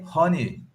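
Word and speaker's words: Rony: How do you pronounce Ronnie? We would just say honey. I know you say honey, don't you? Okay, yeah, with a sound.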